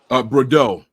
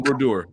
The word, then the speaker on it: Brodeur: It was Brodeur. I said it wrong. Martin Brodeur.